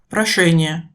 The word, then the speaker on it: прошение: La distinction entre les deux sons suivants est aussi souvent un problème. ша, ща, Comparer, прошение, demande, прощение, pardon.